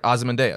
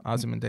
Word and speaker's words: Ozymandias: Yeah, I would just keep pronouncing it the way that they say it in the movies and the television right. show. Right. And also, that's the way it's pronounced for the actual character in history and mythology.